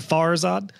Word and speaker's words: Farzad: pronounce that correctly so the emphasis is on far right far as odd bars that's right and